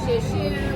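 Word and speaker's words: 谢谢: Say share share, which is thank you. I'm sorry, my children are wrong. I said share share wrong. How do you say it? Share share.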